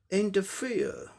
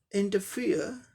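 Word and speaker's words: interfere: तो are silent हो गया। इसका उच्चारण क्या हो जाएगा? इंटरफेयर, इंटरफेयर, इंटरफेयर, इंटरफेयर, ये ब्रिटिश हो गया।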